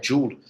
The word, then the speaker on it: Joule: A pronúncia correta é Joule, James Joule.